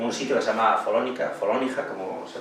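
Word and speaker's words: Follonica: me demanden, en un sitio que se llama Folónica, como se pronuncia en toscano, que es como el Benidorm local, ¿no?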